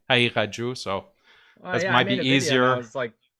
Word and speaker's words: Haqiqatjou: It's Haqiqatjou. It's very hard to pronounce because of the qaf letter. It's like a kind of a guttural. Yeah, guttural. So Haqiqatjou. So if you pronounce it Persian, it's like Haqiqat, and Haqiqatjou.